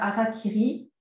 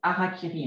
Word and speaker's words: harakiri: On utilise aussi l'expression se faire harakiri, ce qui veut dire se suicider, se couper le ventre. Mais on m'a expliqué que le R se prononce L, donc c'est harakiri.